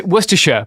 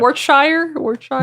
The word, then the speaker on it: Worcestershire: You just it's Worcestershire, by the way, is how you pronounce Worcestershire. Worcestershire.